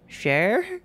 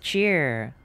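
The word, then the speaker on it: Chyr: welcome welcome welcome how do you pronounce that share Shire shoot I'm sorry if I pronounced it wrong welcome welcome how's it going we just finished chapter purple from manifold Gardens puzzle game it's pronounced cheer oh my gosh you're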